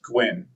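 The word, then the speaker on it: GYWN: For example, the GY WN wayoint would be pronounced Gwyn.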